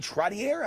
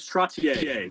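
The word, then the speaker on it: Trottier: Is it Troutier? How do I pronounce that when Pleasure the uh the name is Tratier? Like Chevrolet Chevrolet.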